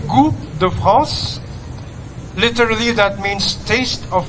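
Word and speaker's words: Goût de France: sa pagluluto good France in French it's actually go the France literally that means taste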